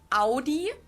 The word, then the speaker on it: Audi: In German, we say Audi. Audi. And there's actually we say Audi. I've never heard anyone call it Audi. It's Audi.